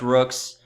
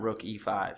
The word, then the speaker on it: Rooke5: people come on yeah it's Rooks not Rook E5 yeah we're getting on